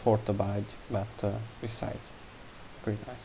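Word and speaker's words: Hortobágy: the two main again uh it's pronounced hortabide but uh besides very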